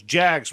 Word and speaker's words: Jag: He had this one Jag that was just bright yellow, and he used to just take it Tom, out. say it like a Brit. A Jag. Jaguar.